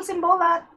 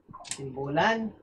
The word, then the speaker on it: Simbolan: Hi, Michael Simbolat. Simbolan. Ay, bakit ko pa pinopronounce itong mga pangalan mali-mali? Sorry, Michael Simbolan.